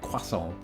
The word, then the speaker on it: croissant: So, when I'm ordering something like that, I will say croissant, but back in the day it was more like quason. I'd go full French with it.